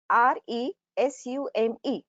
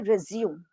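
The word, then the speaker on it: résumé: will be more clear see the word resume r-e-s-u-m-e although the alphabet a comes in the end okay but when we talk about english pronunciation it has to be uttered correctly resume that is the correct nunciation in english language but most of the time we hear we listen people speak it resume the pronunciation is not incorrect because that is the french pronunciation and the word has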